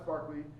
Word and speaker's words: Berkeley: I know it's spelled Berkeley, but it's Berkeley.